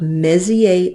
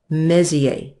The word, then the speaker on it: Messier: things that are called Messier objects okay repeat after me Messier Messier now this is named for a fellow named Charles Messier the the are the last consonant often in French is not pronounced he was a comet